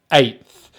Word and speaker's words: eighth: Now, eighth actually uses a diphthong, and this is when we have two vowel sounds in one syllable. So it means we have two mouth positions. Now, for this, both mouth positions, the tongue is always forward in the mouth, so the sound is coming from the front of the mouth.